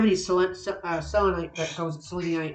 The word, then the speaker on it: selenite: But yeah, and then of course I don't have any salelonite that calls it selenite as I call it, but selonite is the proper pronunciation apparently.